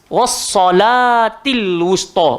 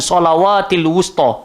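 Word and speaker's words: والصلاة الوسطى: Pasal dia duk nampak waw tu pun macam ada baris. So sebenarnya bukan waw tu ada baris, pasal dia ada alif kecil tu. Jadi cara baca dia wassalatil wusta, bukan salawatil wusta.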